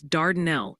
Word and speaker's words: Dardanelle: They're gently reminding us it's Dardanelle in Arkansas, and apparently the L is silent in Gamaliel, Kentucky, making it Gamaliel.